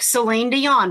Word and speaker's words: Celine Dion: That's how it's spelled, and that is how it's spoke, Celine Dion, because we don't speak French.